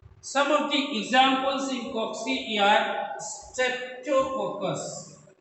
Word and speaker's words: cocci: Cocci is the plural. Cocci. COCCI. How do you? The pronunciation of this is cocci. Cocci.